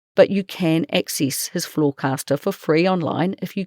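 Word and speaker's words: Flawcastr: Fairhaven Wealth is no longer taking on new clients, but you can access his Floorcaster for free online if you go to Floorcaster which is spelled f l a w c a s t r dot futurefriends.kiwi.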